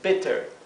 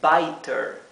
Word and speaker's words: better: Aquí, la doble T hace que la I se pronuncie cortita. La doble consonante hace que la vocal que está antes adquiera su pronunciación corta. Esto se pronuncia entonces better. Si en lugar de dos T tuviéramos una sola T, sería biter, biter. Pero en cambio es better. ¿Sí?